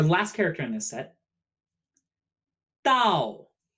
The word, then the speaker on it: 到: character in this set Dao dal pronounced similarly tonight but with a falling tone this character means to